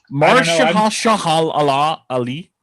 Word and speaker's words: Mahershala Ali: We're not very good at pronouncing names, right? Shit. Mahershala Ali.